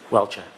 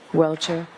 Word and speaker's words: Welcher: of Dr Judson Welter welshire how do you pronounce his name Mr Brennan welcher welcher and the commonwealths opposition so who's arguing for